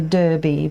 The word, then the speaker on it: Derby: You say Derby, but I say Derby because it is spelt Derby.